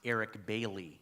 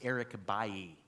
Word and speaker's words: Eric Bailly: But this is not Eric Bailey, as you might pronounce it. He's a French man from Ivory Coast, and his name is pronounced Eric Bailly.